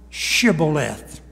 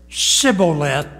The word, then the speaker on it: Shibboleth: And verse 6, and they said unto him, say now Shibboleth. And he said Shibboleth, now underline it, for he could not frame to pronounce it right.